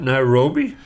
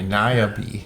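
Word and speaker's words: Niabi: planning your next Adventures Nairobi it's not Nairobi it's n i a b i naabi I bet it's naabi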